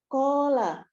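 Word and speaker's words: قال: Berikutnya, penggalan ke-8, qala, bentuknya KKL, pelaku huwa, akar kata qawala, dibacanya qola.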